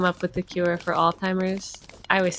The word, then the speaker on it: Alzheimer's: how i would say alzheimer's okay it's spelled with a z but i've never heard anyone pronounce the z okay it's all shimmers